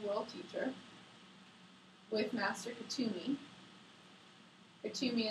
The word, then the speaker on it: Kuthumi: Katumi is spelled Kuthumi.